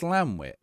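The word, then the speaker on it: Llantwit: But Llanwit is the only place in Wales to not be pronounced with the clan. Really? So it is Llanwit.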